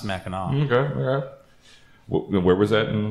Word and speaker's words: Mackinac: Looks like Mackinac, but it's pronounced Mackinac.